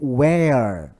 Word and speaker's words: where: No pronome interrogativo eu digo where. Essa pronúncia é where. Mas o outro é were.